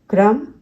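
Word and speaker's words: crumb: म के बाद हम B को साइलेंट रखते हैं। कॉम, क्लाइम, क्रम, लाइम।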